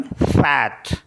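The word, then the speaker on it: fête: जैसे FETE, तो इसमें सर्कमफ्लेक्स मार्क लगा हुआ है ई के ऊपर, तो इसको पढ़ेंगे हम फैट।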